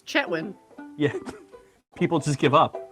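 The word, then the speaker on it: Chetwynd: kathleen's lived there and she keeps pronouncing the d chatwind it's like you lived there it's chetwyn yeah people just give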